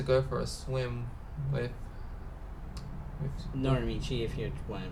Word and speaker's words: Norimichi: Nazuna announced that she wants to go for a swim with Norimichi, if you want to pronounce his name correctly.